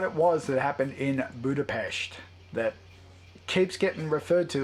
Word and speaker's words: Budapest: Not Budapest. So apparently Hawkeye's been pronouncing it wrong the whole time. Whenever he's been saying, this is just like what happened in Budapest.